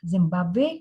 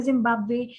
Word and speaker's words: Zimbabwe: So Le Belize, Le Zaire, Le Zimbabwe. Zimbabwe is an exception to the rule that final E is not pronounced, but here it is pronounced.